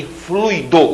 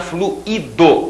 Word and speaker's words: fluido: gratuito e não gratuito fortuito e fluido o fluido o gás propriamente dito sendo que essa palavra tem também a pronúncia fluido que aí no caso é outra palavra eu tenho ali o verbo Quando você diz assim a água tinha fluído abundantemente a água tinha escor